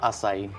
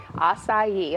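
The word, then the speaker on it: açaí: All right, so a lot of people, first of all, don't know how to pronounce it. So say it again. How do you say it? Acai. Acai, okay, because mm-hmm.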